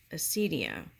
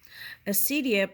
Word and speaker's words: acedia: You must defeat it, or else risk succumbing to that most dangerous of all sinful, passionate acedia. Acedia, pronounced acedia, okay, or sometimes called acedi, is an emotion that has no real equivalent today.